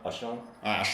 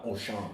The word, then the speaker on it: Auchan: Ashan. Auchan. Oh, that's how you... It's a retail chain, and one of the famous. It's actually international retail chain. It's French, so in French it's pronounced Auchan.